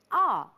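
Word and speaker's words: aa: As we go for a short break, I'm reminded of a short word, Ah. It's spelled A-A, that's it.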